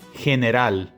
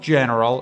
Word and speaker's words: general: This would be general. You can really hear the E there, general, not general, it's not an E as in English, general.